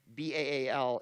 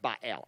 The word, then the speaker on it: Baal: B-A-A-L, it's pronounced Baal.